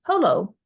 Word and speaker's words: Polo: And it follows with explaining Polo rhymes with froyo.